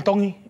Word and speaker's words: Tongi: My name is Iam Tongi, and I'm from Kahuku, Hawaii. Iam Tong. Tongi. You pronounce the T's like a D in the Tongan culture.